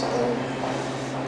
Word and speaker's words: Om: In yoga class, it's Om. It's spelled A-U-M. There's three sounds.